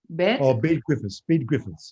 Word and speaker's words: Bede Griffiths: And his name is I don't think if I don't know his first name if I pronounce it right. Bede Griffith. Bede Griffiths, yes.